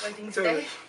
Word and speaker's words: Wednesday: Wednesday? Wednesday. Wednesday가 맞죠. 그쵸, 스펠링이 좀 중간에 N이가 들어서 근데 Wednesday 다시 발음해서 Wednesday.